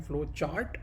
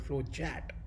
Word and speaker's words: Flowchat: I'm always used to calling flow chart because that's what we have learned, right, in the past. But now I'm learning how to use the word flow chat. That's the right pronunciation, right?